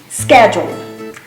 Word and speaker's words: schedule: Schedule. No, is schedule. Schedule. So the CH in this word is not pronounced as we usually think we should pronounce it, like a ch is schedule.